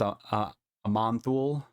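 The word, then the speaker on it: Aman'Thul: The next one's a Manthul. That's how you pronounce it.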